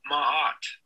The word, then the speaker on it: Ma'at: How to pronounce Mahat?